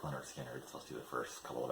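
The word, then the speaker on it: Lynyrd Skynyrd: My wife and I really like Leonard Skinner, especially the first couple of albums. So got Leonard Skinner, pronounced Leonard Skinner.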